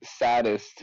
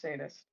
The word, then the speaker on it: saddest: a saddest. No, we become That's what I'm saying. Like you become the most people in the world. You really got to stop saying saddest. It's pronounced sadest.